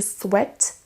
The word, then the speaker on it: sweat: Attention à la prononciation d'abord. En anglais, on ne dit pas sweat, mais to sweat.